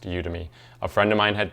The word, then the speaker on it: Udemy: People pronounce it differently. I hear it all kinds of ways, but I think it's pronounced Udemy.